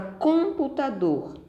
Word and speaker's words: computador: Na palavra computador, dor é a sílaba mais forte.